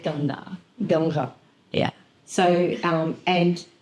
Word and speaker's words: Ganga: Now, Australians pronounce it as Ganges. Mohini will call it something else. Yeah, we call it Ganga.